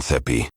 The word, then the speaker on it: sepi: Note that sepi keeps the same number of syllables as in Shakespeare, and for each syllable we kept the most dominant sound.